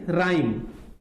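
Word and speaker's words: rhyme: तो जैसे हम यहां एग्जांपल लेते हैं, राइम, आर एच वाई एम ई, आर एच वाई एम ई। यहां पर जो आर एच है इसका प्रोनाउंसिएशन केवल आर है। क्या है, इसका प्रोनाउंसिएशन केवल आर है, राइम।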